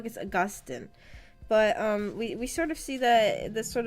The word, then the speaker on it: Augustine: It's Augustine. It's not Augustine.